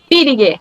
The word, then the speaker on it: Villiger: Essa é a pronúncia? Villiger.